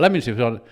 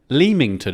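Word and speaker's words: Leamington: in the lington office I said what lemington yeah but it's like lemington isn't it and I was like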